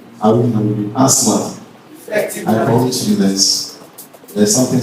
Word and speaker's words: ASMAS: Shall we take pronouncing? Asmas. Asmas.